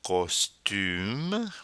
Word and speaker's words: costume: Then we have un costume. Once again, that U sound. Un costume. That E at the end of the word there to force the pronunciation of the final consonant, M.